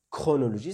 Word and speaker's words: chronologie: exemple, ils peuvent prononcer le mot chronologie. Attention. Donc, on doit le prononcer. Donc, dans la transcription phonétique, vous allez trouver chronologie comme ça. Chronologie. Donc, faites attention.